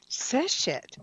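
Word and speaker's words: Seshat: Normandi, tell us about the power of the goddess, and I may mispronounce this, so I may fail this question. Seshet? Seshet.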